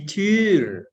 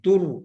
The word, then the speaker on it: Tür: Di kelas, di Schule, di kelas, di Tafel, di Schere itu gunting, di Tür, bukan di tur ya, bukan di tur karena ada umlaut bacanya ei, di Tür, di Tasche, di Brille, di Pfanne, di Übung, di Lehrerin.